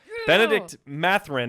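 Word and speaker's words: Bennedict Mathurin: 16 seed going at the one right now benedict matherin i can't say his name correct no you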